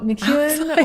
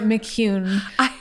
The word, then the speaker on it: McEwen: I've heard it both ways. So McEwen or McCune. Or I have a friend's son who calls it.